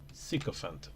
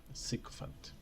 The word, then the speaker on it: sycophant: to be ambushing somebody psychophant or sycophant constantly so how do you pronounce it sycophant okay sycophant English is really Superior you're